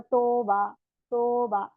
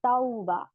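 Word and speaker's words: توبة: अगर आप ऐसे पढ़ेंगे, ता वाव जबर तो बा नहीं, तौबा। तो अच्छे से इसको प्रोनाउंस करें, तौबा।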